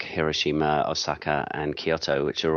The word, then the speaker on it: Hiroshima: The main thing I know is that you're supposed to try and put the equal emphasis on each syllable, which is very hard for us Westerners used to emphasizing, the second or third syllable in a word. So, I believe the correct way to say Hiroshima is that way rather than Hiroshima, which is often how we would have said it in the West.